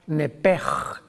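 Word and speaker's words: נפש: no me equivoco es la palabra nepe que se escribe nepes en el hebreo que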